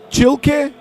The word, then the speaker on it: Chil: Chil. Chil.